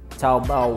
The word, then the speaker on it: Taobao: But apparently there is a seller on Taobao, and we'll quickly interlude with a little bit of a rap tune for that pronunciation. Taobao, wow, clipping high, bowling low, where my house is at, deal with me now.